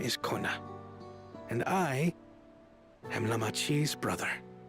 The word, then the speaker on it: Koana: Hey, Kona! Wait, the first A is silent?